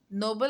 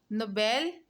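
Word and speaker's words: Nobel: दूसरी बात आपने जो जहन में रखनी है कि ये वर्ड नोबल नहीं है। नोबल लफ्ज़ का मतलब होता है शरीफ। नोबेल जो प्राइज है वो है, उसकी प्रोनाउंसिएशन नोबेल है, नोबल नहीं है।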